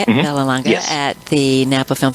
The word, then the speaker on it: Vallelonga: Vallelonga.